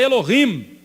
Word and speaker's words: Elohim: Então Davi Pronuncie essas duas palavras. Eles são Elilim. E o nosso Deus é Elohim.